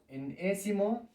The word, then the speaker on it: enésimo: N-ésimo, enésimo término.